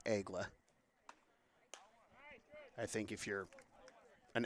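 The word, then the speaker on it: Aigles: French pronunciation is Egla.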